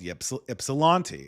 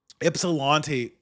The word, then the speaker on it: Ypsilanti: And one of those places was a place called Ypsilanti. It's pronounced with a Y. I think it's an Indian word, but Ypsilanti, when I got there,